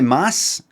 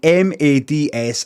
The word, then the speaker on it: Mads: It's actually Mads. I'm saying M-A-D-S. I'm saying Mads. And he can pronounce Brian any way he wants.